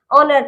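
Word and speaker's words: honour: Next हमारा ऑनर, ऑनर, इसमें भी ओ से पहले एच आ रहा है तो इसे हम साइलेंट रखेंगे, ऑनर पढ़ेंगे, ओके।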